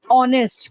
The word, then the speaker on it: honest: So these activities, honest, correct. Because your H is silent. It starts with O sound, and O is my vowel sound.